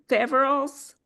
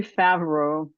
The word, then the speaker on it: Faverolles: Faverolles? It's actually Faverolles. Oh. It's Faverolles. It's from the Faverolles region of France. And that's not why I named it Faverolles Gardens. I named it Faverolles Gardens because I have salmon Faverolles chickens, so, Okay.